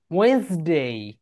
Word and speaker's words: Wednesday: ওয়েন্সডে, ওয়েনসডে।